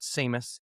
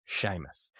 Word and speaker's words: Seamus: It's not Seamus, it's Seamus. Secondly, right now, you're a guest on the show.